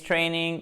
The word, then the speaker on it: training: Training, accent tonique sur la première syllabe.